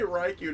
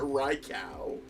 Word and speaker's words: Raikou: Definitely Raikou, not Raikau.